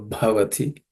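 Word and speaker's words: भवति: The bha is a aspirated consonant, so bhavati.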